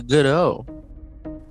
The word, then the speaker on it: Godot: According to playwright Samuel Beckett, the accent goes on the first syllable in the name of what tardy friend of Vladimir and Estragon? That would be Godot.